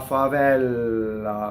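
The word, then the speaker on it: favella: La favɛlla, not la favɛlla, not double F, you see? La favɛlla rhymes with ancella.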